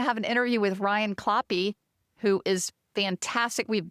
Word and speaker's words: Kloppe: Well, since his last name is Kloppe, which rhymes with choppy, I'm thinking, do you prefer to swim in choppy open water or clean glassy water?